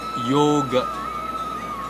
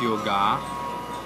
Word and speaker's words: yoga: And one last one, Yoga. It is not yoga. Yoga. Though the word ends with the sound a, it is not to be pronounced as a, but it's a silent, it's a soft a.